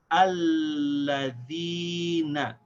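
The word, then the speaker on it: الَّذِينَ: Hamza al-Wasl here is the first letter, so we connect it to this lam, and we pronounce it with the fatha.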